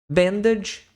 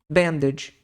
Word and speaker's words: bandage: catheter Band lse que o g em inglês ele tem um som tipo de DJ na maior parte das vezes então você tem essa palavra com a pronúncia de Ben B vamos colocar assim bandage bandage wound care wound